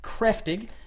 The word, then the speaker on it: Kräftig: It is spelled Kraftig, but pronounced Kräftig, and it is made with simply the best ingredients available to any brewer.